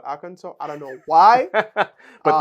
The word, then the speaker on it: Arkansas: to make this joke it's spelled Aransas but we call aranso I don't know why